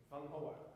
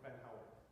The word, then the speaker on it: Vanhauwaert: Okay, and also, how do you pronounce it? Oh, Vanhauwaert or Vanhauwaert.